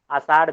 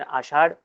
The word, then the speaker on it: आषाढ़: इसे कहते हैं आषाढ़ आसार भी कही लोग कहते हैं आषाढ़ सार शब्द का उच्चारण करते समय स्थल आ जाता है लेकिन आषाढ़ उसका इस तरह से उच्चारण करना चाहिए सावन श्रावण मराठी में